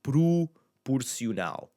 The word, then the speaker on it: proporcional: If I just started putting words here that had a first, so proportional, proporcional. And have that U sound again.